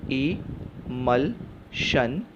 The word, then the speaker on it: emulsion: Next हिस्सा MUL को ऐसा ही छोड़ देते हैं क्योंकि लास्ट हिस्सा SION शन इज़ a tell, so the pronunciation is इमल्शन, इमल्शन।